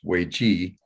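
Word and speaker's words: 危机: uh that in chinese the word for crisis which we pronounce wei ji is interpreted as a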